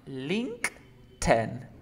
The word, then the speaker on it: LinkedIn: Aquí se pronuncia LinkedIn, pronuncia link. Link. Ahora la T con la I-N, ten, ten, como el número 10, LinkedIn.